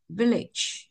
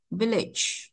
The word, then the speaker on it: village: đọc là gì ạ chong dâi một ạ village village tương tự như vậy